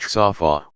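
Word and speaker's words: צָפָה: for watchman is the 3 consenant word DTV, pronounced tsaw-faw', which means to lean forward, yay to peer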